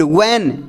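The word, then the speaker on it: when: व्हेन, H silent रहेगा, व्हेन डू I cook the food.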